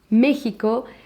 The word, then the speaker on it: México: and now we have Mexico. We write it with X, but the pronunciation is with J, and it's also not what it used to be a long time ago, okay?